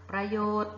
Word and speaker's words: ประโยชน์: ต่อ ไป ประโยชน์ ค่ะ ประโยชน์ ตัว อะไร หาย ไป เอ่ย ตัว การันต์ ที่ หาย ไป คือ นอน หนู แล้ว มา ให้ ทัณฑฆาต